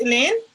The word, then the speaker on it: Elaine: It's pronounced Elaine? Yeah, yes, it is.